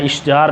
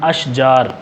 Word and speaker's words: اشجار: اس کی جمع اشجار، تلفظ کا آپ نے خیال کرنا ہے، اشجار نہیں پڑھنا، اشجار۔ اور باغ، اس کی